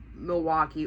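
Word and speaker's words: Milwaukie: But it's pronounced exactly the same way.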